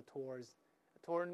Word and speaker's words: toward: 候 towards midnight 或 toward midnight 都可以，那么英国人都用 towards 或 toward，美国人呢都用 toward 那个 W 就不发音了，老师说过。